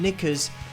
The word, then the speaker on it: knickers: I think if you mean knickers in the UK at least, I think it's spelt with a silent K at the beginning, but I don't know what you mean.